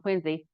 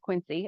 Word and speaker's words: Quincy: Uh, so I did a a chapter uh in Quinsey for obviously the town Quinzy um which is not pronounced Quincy as you all know.